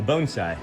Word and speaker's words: bonsai: And then, hey Sean, could you check on the bonsai trees, please? The bonesai. Bonesai is what they're pronounced.